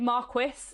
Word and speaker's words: marquis: This is said marquis is spelt slightly not like you would imagine it would be spelled from how it's said, and also there are 2 different spellings for marquis.